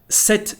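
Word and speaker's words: sept: 7 livres, here we don't pronounce the letter P, just the final T.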